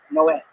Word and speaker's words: Noé: the Spanish translation, it's Noe is Noah, but it's pronounced Noé.